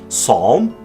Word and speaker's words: psalm: P is silent before a selection of somewhat technical terms such as pneumonia and pneumatic, and it's silent before S in a different selection of words such as psalm, psyche, and psychology.